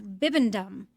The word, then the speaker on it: Bibendum: yes he has an actual name and it's bibendum BB bbum bibendum how how do you spell it uh b i b e n d